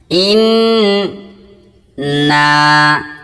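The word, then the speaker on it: إِنَّا: নুন এবং মিম এই দিয়ে আরবি দুইটা অক্ষর রয়েছে, এগুলোর উপর তাসদীদ থাকলে এক আলিফ গুণনা করে পড়তে হয় এবং দুইবার করে কথা বলতে হয় এগুলোকে। ইন না দুইবার নুনকে উচ্চারণ করলাম।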